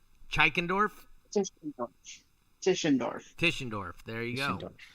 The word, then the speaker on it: Tischendorf: Tishonorf.